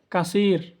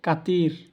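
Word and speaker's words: كثير: বললে আমরা বুঝি না এটা ভুল আমি এখানে উচ্চারণ আরবিতে লিখে রাখছি উপর দিকে আরবরা বলে কাসির যার অর্থ হলো বেশি আমরা বলি কাতির একদম ভুল কাতির আমি এখানে লিখে রাখছি দেখুন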